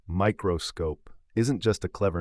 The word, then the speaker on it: μscope: want to stick around for this one uscope pronounced microscope isn't just a clever name it's an exciting